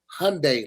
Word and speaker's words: Hyundai: like to hear it it's Hyundai like Sunday why won't you tell